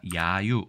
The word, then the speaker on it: 揶揄: 자, 이 글자는 우리가 야유라고 읽습니다. 야가 장음이네요. 그러니까 야유 이렇게 읽으면 될 것 같습니다.